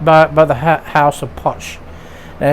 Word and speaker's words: Puig: um it was put put out by by the house of punch and it's spelled p-u-i-g some some people say pueg and but according to wikipedia it's pronounced punch